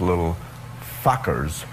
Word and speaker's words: Little Fockers: I guess it was Little Fockers. Right. Yes, I pronounced it right.